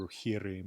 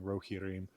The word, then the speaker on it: Rohirrim: stress pattern, but I think it's supposed to be Rohirrim, and I was saying Rohirrim. My default foreign language is Old Norse or Icelandic, so I tend to emphasize unfamiliar words on the first syllable.